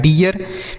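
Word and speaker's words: dear: इ ए का उच्चारण इ ए होगा। आर से र लिखा है डियर।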